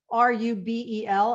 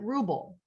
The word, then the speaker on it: Rubel: I can tell you on the West Coast, people pronounce R-U-B-E-L as Rubel. On the East Coast, we pronounce it Ruble.